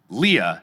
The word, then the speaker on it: Leah: Leah, not pronounced like Princess Leia."